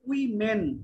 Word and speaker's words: women: তোমার একটা উচ্চারণ একটু শুধরাতে হবে, সেটা হচ্ছে দা রোল অফ ওমেন বলেছো না, এটা উচ্চারণটা হবে উই মেন, দেখো এম ই এন আছে, উচ্চারণটা হচ্ছে উই মেন, বলো তো আমরিন আবার।